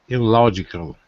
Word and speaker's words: illogical: opposite of logical is illogical illogical great which column illogic fourth four fourth column fourth elogical elogical that's it okay let's go second the second syllable the second syllable is stressed that's right okay you've